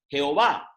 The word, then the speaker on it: Jehová: Las dos pronunciaciones más comunes son Jehová, una pronunciación latina utilizada desde el siglo XVI, y Yahvé, un intento de pronunciar la palabra según una interpretación hebrea más literal.